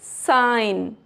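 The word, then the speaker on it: sign: नॉम नेट नो जी इज साइलेंट after I इन some word. आई के बाद अगर जी है तो वहां पर भी जी नहीं पढ़ा जाएगा। जैसे साइन डिजाइन foreign clear next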